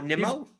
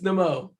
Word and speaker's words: Nimmo: are both really cheap is that how you pronounce that yeah oh it's not it's not evo it's not nemo i know it's nimble it's nemo yeah i know people want us because it's